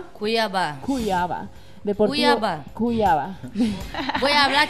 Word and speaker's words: Cuiabá: ¿Cómo se pronuncia? Cuiabá.